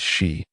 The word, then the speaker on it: Shi: You mean the legendary Shi Saihua? The pronunciation is Shi, not you.